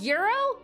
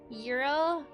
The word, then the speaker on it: gyro: It's called Euro. That's how you pronounce it. Wait, Queen, you've never had You've never had one. Euro. So, it's like the G is silent.